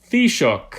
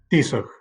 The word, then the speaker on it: Taoiseach: Taoiseach. I'm sorry, it's Taoiseach.